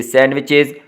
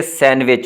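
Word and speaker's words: sandwich: से children, सैंडविच से सैंडविचेस। अच्छा, इसमें डी साइलेंट होता है, ठीक है, सैंडविच होगा, सैंडविच और सैंडविचेस।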